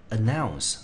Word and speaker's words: announce: announce 来这个字，我们看第一个母音呢是在 a 的地方，所以它字形形成一个音节，我们念成 a，因为它是在清母音，对不对？好，那中音节呢落在第二音节，那它全部所有的字，注意看哦，这个是比较少见的哈，因为它的子音，它的母音在 o u，念成 ow 是一个双母音啊，在这里它是一个双母音，对不对？然后呢，前面两个子音